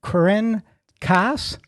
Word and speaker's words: Corinne Kaas: a great show for you today we have Corrine Cass did I pronounce it correctly you did k-a-s k-a-s and